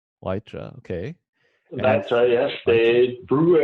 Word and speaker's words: Weitra: Now, how do you pronounce that, Philip? It's Weitra. Weitra, okay.